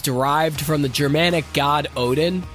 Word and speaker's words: Odin: through a Greco-Roman lens Odin was sometimes pronounced woden and to honor the